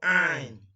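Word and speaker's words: عين: The sound the way the name is, and it's called Ain, Ain, Ain, Ain. Try your best to master the words, the pronunciation.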